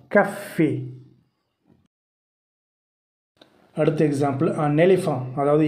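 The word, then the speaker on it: café: எப்படி email pronounce பண்ணும்போது இமெயில் அக்ஸாந்த் யூஸ் பண்ணும்போது ஏ அப்படின்னு ப்ரொனவுன்ஸ் ஆகுது, அ மெத்ஸன். அடுத்த எக்ஸாம்பிள் பார்த்தீங்கன்னா அ கஃபே, அது நம்ம காஃபி சொல்கிறோம்ல, அதான் ஃப்ரெஞ்சில் வந்து கஃபேன்னு சொல்லுவாங்க, அ கஃபே ஏ அ கஃபே.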